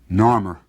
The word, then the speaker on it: Narmer: Now, the fish was pronounced nar, and the chisel is pronounced mer. Narmer.